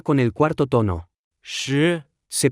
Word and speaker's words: 识: 识， Se pronuncia con el cuarto tono.